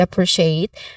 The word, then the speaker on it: appreciate: Appreciate, the letter C here, it is pronounced as sh sound.